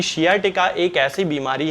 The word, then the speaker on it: sciatica: बीमारी हो जाती है, जिसे कि साइटिका बहुत सारे लोग कहते हैं। हालांकि इसका सही प्रोनाउंसिएशन जो है वो शियाटिका होता है।